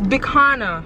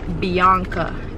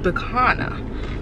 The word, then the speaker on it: Bicana: It's Bicana. My name is Bicana. He thought my name was Bianca, and he said the whole time he was pronouncing it as Bianca. It is Bicana.